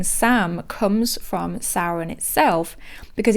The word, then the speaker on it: Samhain: And his name, Sam, comes from Samhain itself, because even though it's pronounced Samhain, it's spelled Samhain, shortened to Sam.